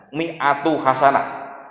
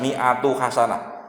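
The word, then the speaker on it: مائة حسنة: Wa kutibat lahu, dan ditulis baginya mi'ata hasanah, mi'atu hasanah, bacanya jangan salah ini, kutibat mi'atu hasanah, maka dituliskan baginya 100 hasanah kebaikan.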